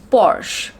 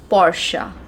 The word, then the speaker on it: Porsche: brand and that is porsche porsche that's what you call it right but the actual the correct pronunciation of this word is portia portia portia so from now